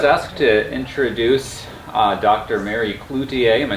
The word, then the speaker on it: Cloutier: Mary Cloutier.